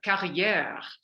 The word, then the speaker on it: Carriere: your name is Jennifer carrier Jennifer so what did you say Jennifer rhymes with derriere I tell people that's